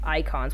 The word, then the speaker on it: Eikon: Anyways, Shadow, you have quite a bit of points to make about this trailer other than the icons, which icon is spelled EIKON, not the ICON, by the way.